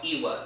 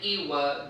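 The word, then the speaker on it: Lwa: These deities in Haitian Voodoo are called Iwa. They're L-W-A. The L is pronounced as kind of like an E-Y, an I.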